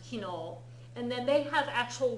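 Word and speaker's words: 昨日: We haven't learned yesterday yet, but it's pronounced kino.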